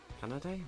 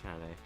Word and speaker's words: Kanade: Kanade? Why did I say it like that? I didn't say that right. Yeah, Kanade.